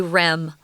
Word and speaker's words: REM: rapid eye movement sleep you likely won't hear Americans say oh my rapid eye movement sleep was very minimal last night I didn't get enough we'll always say REM always so RM REM